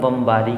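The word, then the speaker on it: bomb: आप देख सकते हैं बी ओ एम बी मतलब बमबारी करना तो इसे आप पढ़ सकते हैं बम बम नहीं बम बम ऐसे बोले तो बम अगर बोलते हैं तो यह यहां पर भी साइलेंट हो जाता है क्योंकि यहां पर एम के बाद आ रहा है इस कारण से हमने इसको बोला बम नेक्स्ट है लिम लिम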